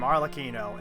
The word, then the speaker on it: Arlecchino: So that's how you pronounce her name, Arlecchino, and she is from Fontaine.